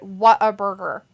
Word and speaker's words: Whataburger: I would have pronounced it what a burger. Like, what a burger.